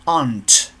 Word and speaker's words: aren't: the short form you say you they we ant that is the correct pronunciation ant we aren't from the UK and